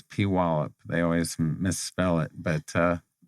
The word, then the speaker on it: Puyallup: She likes to tell people it's Puyallup. They always misspell it, but she makes sure that everybody knows the correct Puyallup.